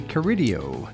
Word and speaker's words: Carideo: And today our guest is Curidio. Yay. Did I pronounce that right?